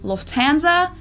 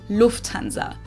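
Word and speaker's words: Lufthansa: flown with them before in English people usually say Lanza but in German we say Lanza so the emphasis on the first syllable Lanza versus Lanza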